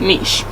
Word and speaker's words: niche: your business niche, or some people pronounce it niche or niche, however you want to pronounce it, but I pronounce it niche.